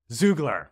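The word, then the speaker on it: Xoogler: like a former googler it's an an x x ugler zugler okay but it's spelled with an X so yeah okay so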